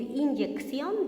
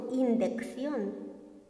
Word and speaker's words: inyección: de la misma manera por decir inyección decimos indc verdad más que todo esto